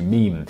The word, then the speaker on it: meme: I abbreviate meme to meme. If it is any consolation, it could be thought of as being related to memory or to the French word meme. It should be pronounced to rhyme with cream."